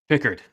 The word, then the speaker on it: Pickard: everybody it is not Calvin Pickard or Pickard Connor how do you say it Pickard okay I've been saying Pickard so okay I always thought peard like when he was coming at the league but at